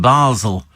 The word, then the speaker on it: Basel: Your dedicated Oslo Spikers, Michelle and Roger, listening to your super show from Basel in Switzerland. It is pronounced Basel, isn't it?